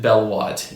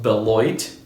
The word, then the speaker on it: Beloit: boots there's another style it's called the I pronounced it Bell Wat in my last video it's actually pronounced Beloit and that's also a town in Wisconsin established